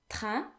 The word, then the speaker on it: train: A-I-N in French is often pronounced un. Un. Unless it is followed by another N or a vowel, in which case AI would act as a vowel, which is E, as we talked about previously, and then N and whatever follows it would be pronounced separate.